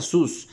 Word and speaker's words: Zeus: pronuncia Zeus, así como lo pronuncio ahorita, se pronuncia sus, y en latín significa cerdo.